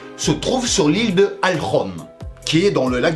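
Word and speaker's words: Ольхон: D'ailleurs, pendant toute la vidéo, je vais utiliser la prononciation russe de Alkhon. Oui, parce qu'en français, ça donnerait genre l'île de... Oh le con!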